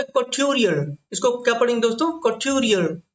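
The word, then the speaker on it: couturier: आज का हमारा जो आखिरी शब्द है वो है कॉट्यूरियर। इसको क्या पढ़ेंगे दोस्तों, कॉट्यूरियर। तो कॉट्यूरियर, जैसे मैं बोल रहा हूँ वैसे ही प्रोनाउंस करना, हो सकता है कि आप मुझसे अच्छा प्रोनाउंस कर जाए, है ना।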